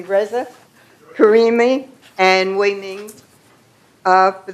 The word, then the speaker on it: Reza: as directors for VMS, Reza. Wait, I pronounced that wrong. You just corrected me, Reza.